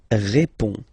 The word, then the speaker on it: répond: So, final D is not pronounced. You only have this on nasal sound at the end.